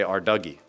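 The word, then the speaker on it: Ardougne: Apparently people call it Arty because no one can agree on how to say Arduggy. That's how I pronounce it.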